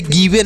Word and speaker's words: give: वाह, तो इसे पढ़ेंगे गिव। इसे गिवे नहीं गिव पढ़ना है।